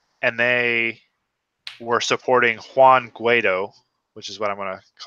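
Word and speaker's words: Guaidó: And they were supporting Juan Guaido, which is what I'm going to call it. Okay, look, someone's last name it can't be a racial slur. That's not even fair. It's not Guido, it's Guaido.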